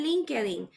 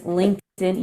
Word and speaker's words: LinkedIn: people in El Salvador right I'll see and Lincoln okay ah okay Spanish right Spanglish but the correct pronunciation is linked yes linked in let me even go to YouTube and this